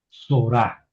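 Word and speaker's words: צָרְעָה: Entonces esta cámes de aquí es una cames jatuf, es una o breve. Entonces es sora. ¿Por qué? Es una sílaba cerrada termina en consonante y no tiene acento, ¿verdad? Entonces la palabra es sorá y es un lugar, ¿verdad?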